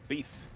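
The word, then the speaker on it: LaBoeuf: I think it's pronounced LaBeef. LaBeouf? LaBeef.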